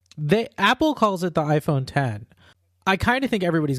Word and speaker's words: iPhone X: to call it the Apple calls it the iPhone 10 I kind of think everybody's gonna call it